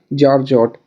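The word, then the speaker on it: georgette: जॉर्जट तो जॉर्जट हो जाएगा गलत। इसकी स्पेलिंग होती है जी ई ओ आर जी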